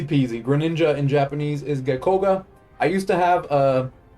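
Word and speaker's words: ゲッコウガ: Catherine yep easy peasy Greninja in Japanese is geckoga I used to have a the Korean incineroar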